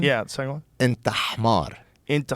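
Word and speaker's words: حمار: Inta hmar. Inta khmad. But see, you're saying kh. It's h.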